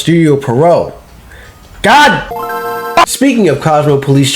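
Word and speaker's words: Pierrot: It get its anime adaptation worked on by Studio Perry, the same studio that worked on Cosmo Police Justy in 1986. It is pronounced Studio Perau.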